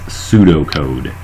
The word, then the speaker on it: pseudocode: okay and again that's pseudocode the P is silent okay when you're programming